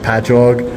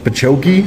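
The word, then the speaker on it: Patchogue: cities that we have it will be like patchog and they'll be like pachokei and I'm like no it's it's just ingrained into my brain that I know how to say them.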